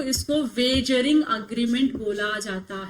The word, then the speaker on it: wagering: हम क्या बोलते हैं, वेगरिंग अग्रीमेंट, और सॉरी वेजरिंग अग्रीमेंट बोलते हैं, तो प्रोनाउंसिएशन बड़ा बेकार है इसका, ठीक है।